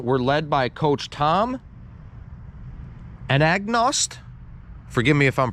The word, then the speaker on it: Anagnost: Those teams from 2008 to 2010 were led by Coach Tom Anagnost. Forgive me if I'm pronouncing his name wrong.